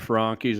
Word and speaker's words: Franchi: Hey, I got a lot of friends who have Frankies, and they love those things. That's how you say it? Yeah, that's how they say it.